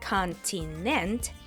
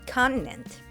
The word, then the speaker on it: continent: The traditional T sound becomes what we call a glottal T. We still get three syllables, but instead of a strong T, continent, it sounds more like continent.